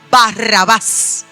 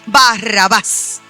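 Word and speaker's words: Barrabás: Nosotros lo conocemos como Barrabá. Esa es la pronunciación conforme a nuestra traducción bíblica, Barrabas. Pero el nombre original es Baraba.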